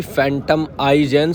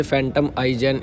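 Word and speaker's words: Phantom iGen: देखने के लिए मिलेगी, फैंटम आई-जेन। शुरू में शायद मैंने आपको नाम गलत प्रोनाउंस कर दिया था, अभी देख लीजिए, फैंटम आई-जेन इस इलेक्ट्रिक स्कूटर का नाम रहने वाला है।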